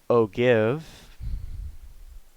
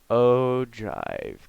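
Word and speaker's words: ogive: go and it's not Oh give it's pronounced Oh drive kind of like how you drive and dance to your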